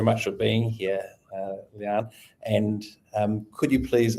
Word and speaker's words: Lian: Um and now you're going to feel awkward cuz I'm going to tell you you did say my name wrong. It is Leanne Leanne.